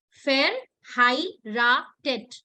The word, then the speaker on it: verheiratet: Break the word in 3 parts. Fair. And then HIE ko break karo. And then last wala RATET. 3 parts mein break karo and let me know the pronunciation.